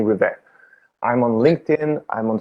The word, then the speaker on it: Rivest: as with my last name is spell r-i-v-e-s-t i guess you will see uh in the podcast description but it's a french name so the s is a silent letter but it's river i'm on linkedin i'm